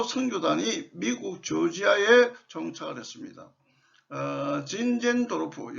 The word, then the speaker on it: 진젠도르프: 진젠도르프, 여기에 친젠도르프라는데 독일 발음이라서 진젠도르프라도 하고 좀 강하게 발음하면 진젠도르프라고 이렇게 합니다. 그래서 교과서에는 진젠도르프로 했으니까 진젠도르프로 사용하시면 되겠습니다.